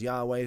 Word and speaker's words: Yahweh: We've established that the Father's name was historically pronounced as Yahweh through multiple attestation, multiple sources, ancient sources.